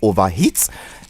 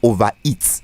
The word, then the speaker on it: overheat: Let's do this, and it's called Overheat. It's not overeat.